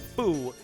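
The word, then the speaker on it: Fu: I keep saying Few, but it's actually, no, Few is correct. I keep saying Foo because that's the way I said it for forever, but actually Few is correct too. It just depends. There's translations and pronunciation things you can do depending on translations.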